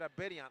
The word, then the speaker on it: Abedian: How do you say that? Thank you. Abedian. Yeah. Trying to get Abedian up on that linebacker.